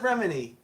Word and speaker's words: Remini: She Uh, pronounces it Remini.